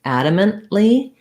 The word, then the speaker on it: adamantly: important to know because when we add the lee adamantly i definitely do that stopped t i'm adamantly opposed to voter suppression so mentally stopping the t and just releasing into the l adamant and adamantly uh thank you for